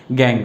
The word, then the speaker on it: gangue: क्या कहते हैं, GANGUE, हम इसे कहते हैं गैंग। इसका प्रोनाउंसिएशन हम कैसे करेंगे, गैंग।